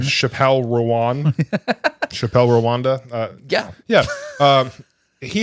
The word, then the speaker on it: Chappell Roan: Not Chappell Roan. Chappell Rowan.